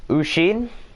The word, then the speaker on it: Osin: You can pronounce my name, Ushin.